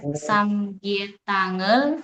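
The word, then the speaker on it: 삼계탕: Nah, jadi dibacanya samgyetangel moko isoyo.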